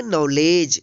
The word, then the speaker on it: knowledge: Silent है। KNOWLEDGE, इसको पढ़ेंगे नॉलेज।